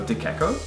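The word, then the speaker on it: De Cecco: The next one is easy if you know your Italian C's, but not if you don't. So, DeCecco? No, so that is DeCecco. DeCecco. Not Checco.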